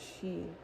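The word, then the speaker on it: sidhe: It's pronounced she in the ancient Gaelic Oh.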